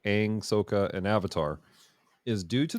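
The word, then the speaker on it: Sokka: pronunciation would be eero for the uncle uh soka would be correct in that pronunciation but here's the thing this takes place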